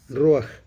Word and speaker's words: Ruach: Ruach. Debería ser con J, Ruach, pero como en inglés no hay J, pues lo tradujeron Ruach y nosotros seguimos con Ruach.